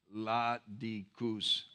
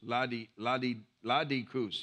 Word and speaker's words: Laodiceans: In the way it's written in English is Laodiceans, but it's actually pronounced Laodicus. Laodicus, yeah, that's how it's Laodicus.